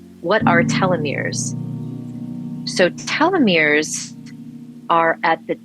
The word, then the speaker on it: telomeres: that we age so telomeres which are spelled t-e-l-o-m-e-r-e-s pronounced telomeres um so they repeat